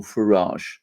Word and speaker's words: Farage: have brexit because of nigel farage i know this isn't how it's said outside britain but that is the